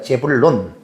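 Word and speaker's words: זבולון: 스불론은 히브리어의 발음으로는 제불론입니다. 재불론 이렇게 읽어요.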